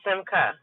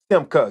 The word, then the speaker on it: Simcha: Is it Simcha? I know I said it wrong again. Sam, sir, I tell people just think of Michael or Zechariah. The ch is hard. So Simca. Simka, got you.